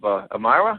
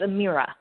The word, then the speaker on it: Amirah: the executive director of amayra am I pronouncing it correctly um actually it's Amira Amira and that's um that's Aramaic for Prince I understand uh yep